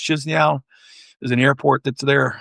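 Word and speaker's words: Chișinău: I go into, I believe it's pronounced Chisinau.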